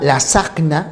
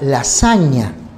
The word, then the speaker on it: lasagna: dígrafo gn por eso tú no pides una la signa sino una lasagna por eso aunque escribes por lo que si la pronunciación es bolognesi no dices champaña sino champaña